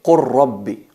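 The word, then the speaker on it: قل رب: Ahí, como veis en el ejemplo, qul rabbi se convierte en qur rabbi, qur rabbi, qur rabbi. La lam la fusionamos en la ra porque son mutaqaribain, son similares, son cercanos.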